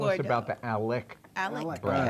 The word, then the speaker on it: Alec: Alec. Bradley. Alex.